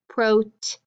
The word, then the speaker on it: protein: e and the i you do not hear the eye you have a long e sound with an eye so we call this digraph e i and so when we code digraph e i when you hear it in these words you hear that eelien so it's a long e silent eye so we underline it